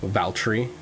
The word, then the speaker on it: Valtteri: How do you pronounce his first name? Valtteri.